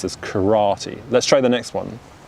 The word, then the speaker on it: karate: kura good karate karate so notice how we're stressing the second syllable so in japanese it's three similar symbols three similar syllables karate karate whereas in english we pronounce this karate let's try the next